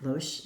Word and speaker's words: Loesch: I think Loesch is the proper pronunciation, by US Game Systems, Inc.